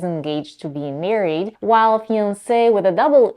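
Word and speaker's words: fiancé: on my list is a pair of fune words both pronounced in French as fian the difference between the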